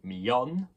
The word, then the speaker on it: millón: But there's no second I, because double L in Spanish is the y sound. It is the sound you hear in million if you just say it really quickly. You say million. And the accent on the O, of course, means a stress.